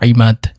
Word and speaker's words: এমাদ: বহনকারী ছয় নাম্বারে রয়েছে এমাদ যার অর্থ স্তম্ভ এবং এই নামটির শুদ্ধ উচ্চারণ হলো ইমাদ সাত নাম্বারে রয়েছে ফোয়াদ